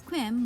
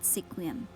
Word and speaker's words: Sequim: is the town of squim pronounced as quim not sequim the town is the